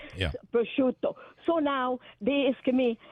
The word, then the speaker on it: prosciutto: Give me some prosciutto. It's not prosciutto. It's right. prosciutto. Prosciutto. Prosciutto. Perfect. You said it. Yeah. Prosciutto.